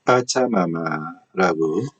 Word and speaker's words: 빠차마마: 파차마마라는 표현으로 되어 있는데, 스페인어는 경음, 잔소리 발음이 원칙이기 때문에 파차마마라고 써야 된다고 주장하시는 분들도 있고, 아니면 좀 파차마마라는 발음이 너무 좀 세련되지 못하다. 파차마마가 어떨까 하는 의견들이 있었습니다. 그러나 저희 입장은, 원주민들이 인터넷으로 하면 들을 수 있습니다. 요새는 인터넷으로 다 확인이 되죠. 된소리 발음을 하기 때문에 빠차마마라고 된소리 발음을 하는 것이 맞다고 봅니다.